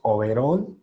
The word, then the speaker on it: overall: La L en inglés, acuérdense que es una L gorda.